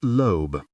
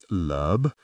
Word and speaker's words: Loeb: It's Loeb, she said. Lub? You pronounced it Lub. It's Loeb. Looking at her perfectly made-up, suspiciously plump lips repeatedly saying the word made me want to giggle.